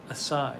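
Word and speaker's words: açaí: oh sarah joyce says the c is pronounced as an s in assad assai i see i see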